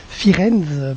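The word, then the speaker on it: Firenze: sur la ville de Florence firenz prononcé en italien c'est une donc une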